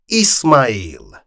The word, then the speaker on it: Ismail: Taksim coughed, adjusting his throat to give it the right pronunciation. "Mr. Ismail. Mr. Ismail is with you."